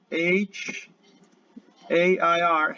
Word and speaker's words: hair: vamos a ver her h a i r hair es una a abierta hair encontraste con con